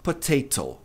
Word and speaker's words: potato: Acontece que a sílaba que tem o T aqui, TA, é a tônica, é a forte. A última, o último T aqui, né? A última sílaba não é tônica, é átoma, ou seja, ela não é a forte. A forte é a sílaba ta. Então fica potato, mas no inglês americano,